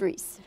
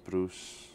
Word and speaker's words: Rhys: Oh, I've had Rhys, Bruce.